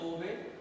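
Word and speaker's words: Kolbe: इस तरह से कोवे reactions, this method also called as a, spelling है COLB, यहाँ पे इस तरह से है L साइलेंस टाइप कोवे इलेक्ट्रोलिसिस।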